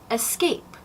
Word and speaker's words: escape: Now, much like especially, the word espresso for the very strong coffee drink, it does not have an X in it, and neither does escape. There's no X, so no escape, espresso.